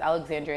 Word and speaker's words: Alexandria: And that's Alexandria, like the city in Egypt.